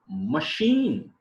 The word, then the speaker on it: machine: here ch is see the next spelling machine and now here is also ch when i pronounce this a ch it is a show here sure not a cheer anchor and the last